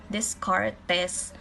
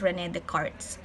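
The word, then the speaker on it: René Descartes: want to read it in uh other way this card test but uh if you search it in the google it is pronounced as rene the cards silent s okay so made the revolution revolutionary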